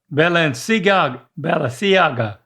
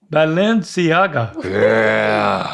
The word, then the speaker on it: Balenciaga: Bella Bellagi. So close. You're almost there. It's not Saga. It's C Bellisiaga. Balenc. Balenciaga. Yes, he got it.